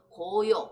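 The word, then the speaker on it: 皐陶: 고요. 고자는 언덕고자에 요자는 그냥 여기 요자는 우리가 이걸 질그릇 도라고 읽어요. 질그릇 도라고 있는데 사람 이름 요로 하시면 될 것 같습니다.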